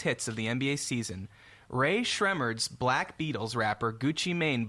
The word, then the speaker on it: Rae Sremmurd: this is the band's telling you how to pronounce their name they have a video that I toriel I watched on YouTube Rae sremmurd okay now this is how they end the